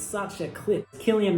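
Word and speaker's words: Cillian: it's such a clip Killian Murphy not selian I think I've pronounced his name selan for like my entire life Killian Murphy is amazing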